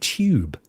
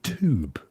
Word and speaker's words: tube: And because we say tube, you see. Oh, tube. And you guys say tube. So you pronounce it T-O-O-B. And we pronounce it like there's a Y after it. Tube.